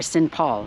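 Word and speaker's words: St. Pauls: words together he said for example St John's is pronounced sinjan or sin Paul sin Paul is a town that's not too far away he says yeah we just sort of slide it together he says it probably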